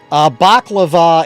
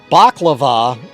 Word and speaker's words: baklava: Baklava is the dessert. Balaclava is the face covering. Yeah, it's not sounding good, Doc. You're right. All right. Yes, Ben, you have been saying it wrong. Baklava is the delicious, delicious